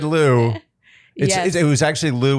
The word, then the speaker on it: Lou: It's Lou, pronounced Lou, L-O-U. It's a nickname, but I think it's cuter when spelled with 2 U's.